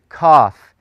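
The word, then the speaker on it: kaph: in the Hebrew alphabet is cough and it sounds like the K as in King cough and it's written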